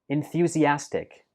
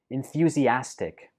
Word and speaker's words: enthusiastic: pretty tricky to pronounce we pronounce this like enthusiastic enthusiastic in fusy ass tick so it has five syllables and note that the stress for this word is on the fourth syllable as enthusiastic enthusiastic for example she's a